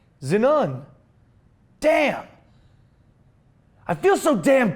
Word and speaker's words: xenon: Hood which is the correct one Xenon is pronounced Xenon here whereas it's actually pronounced zenun damn I feel so damn country okay Cal